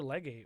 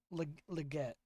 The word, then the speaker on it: Legette: Sorry, Xavier. Pronunciation. Xavier Legette. Legette.